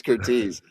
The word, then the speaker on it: Curtiz: It's Curtiz.